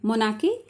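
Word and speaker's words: monarchy: Number एक है राजतंत्रात्मक शासन यानी कि मोनाखी। इसमें आर साइलेंट रहता है और सी एच वाई को के बोलते हैं। मोनाकी इसमें राज्य का प्रमुख राजा था।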